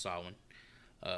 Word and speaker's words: Samhain: Obviously pronounced Samhain.